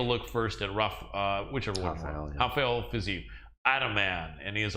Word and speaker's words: Rafael: Main event: Rafael Dos Anjos versus Rafael Fiziev. People look and see the name spelled the same. In Portuguese, the R is an H sound.